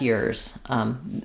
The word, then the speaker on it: yours: So typically the word your or the word yours can get reduced to more of a so they would tend to say yours. That's yours. Now sometimes people will say that's yours. They'll use the or sound.